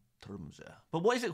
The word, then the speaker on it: Tromsø: Yeah, you're actually saying it right. The Tromsø. Ah, Tromsø.